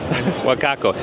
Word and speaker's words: Wacaco: how you say it woko wakako wakako yeah wakako he's got some cool new products he's going